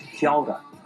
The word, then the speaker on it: kia ora: It's pronounced kia ora.